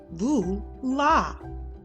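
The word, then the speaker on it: voilà: read the small print bula is french you pronounce it Lu la it means behold or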